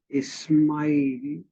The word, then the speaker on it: Ismail: Islam comes from Ismail, which was the pronunciation, the non Hebrew pronunciation of Ishmael.